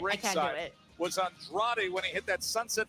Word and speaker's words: Andrade: Says you have to pronounce Andrade like Wade Barrett does for this math match. I think he says Andra.